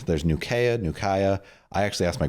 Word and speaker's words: Nukaya: That was a soft So, let me make sure I'm pronouncing your name right. Nugaya. Nukaya. Nukaya. Yep. And actually, um I've it's like there's Nukea.